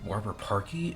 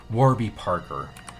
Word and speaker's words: Warby Parker: I had to look it up because I'm looking like, wait, is it Warby Parky? It's Warby Parker. So spelled like this.